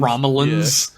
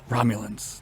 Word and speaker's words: Romulans: the funny thing is they like mispronounced Romulans they call it a Romulan Romilly the Romulans and then T'Pol is like Romulans yeah we've heard about